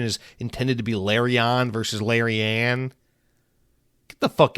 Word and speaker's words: Larian: Firstly, you pronounce Larion. You might be right, but I've always heard Larian. Listen, Larian, the fucking Baldur's Gates guys.